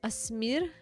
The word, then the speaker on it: Asmir: At the first goalkeeper's name looked ASMR, but it's Asmir the goalkeeper.